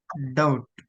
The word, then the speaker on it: doubt: Doubt. B silent again.